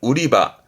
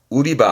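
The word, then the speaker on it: 売り場: 우리말로는 매장이 되겠습니다만 일본 친구들은 파는 장소 개념으로 발음을 우리바 우리바 합니다 매상이 되겠네요 발음은 우리하게 우리하게 뒷자 가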